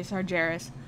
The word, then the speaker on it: Sargeras: um by the way I'm using the Warcraft 3 pronunciation a sort of bastardization of the world Warcraft 3 pronunciation to say sargeras uh some people say sargeras um so what's with